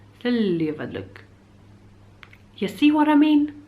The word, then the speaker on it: Seljavallalaug: The secret pool beside Seljalandsfoss is called Seljavallug. Seljavallug. Seljavallug. Seljavallug.